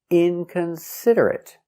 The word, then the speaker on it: inconsiderate: They are not verbs, so they are not pronounced ate, but they are pronounced it.